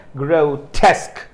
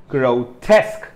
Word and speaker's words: grotesque: grow it's grill okay there is a diphthong here grotesque grotesque so the second syllable is stressed here just one uh uh